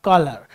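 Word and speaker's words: choler: होती है तो देखिए कॉलर स्पेलिंग अलग है यहां पर सी एच ओ एल ई आर कॉलर यह प्रोनंसिएशन तो यह एक टाइप के होमोफोन हैं जिनकी स्पेलिंग तो अलग है लेकिन जिनका प्रोनंसिएशन एक सा है नाउ व्हाट इज कॉलर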